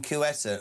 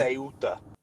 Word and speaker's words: Ceuta: Please stop pronouncing Quetta.